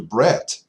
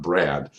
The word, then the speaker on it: Brett: went over to Brett have to be very careful with my pronunciation because it's breast not Brad so just a disclaimer in case I get it wrong later on in this video okay it's brett so Brett is the